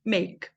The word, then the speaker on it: make: Esse Ezinho aqui é mudo e esse A tem som de E. Então é make.